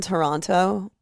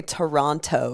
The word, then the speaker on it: Toronto: Yeah, someone told me that the way I say Toronto is wrong. Yeah, it's Toronto. Toronto. Sorry that I pronounce my T's.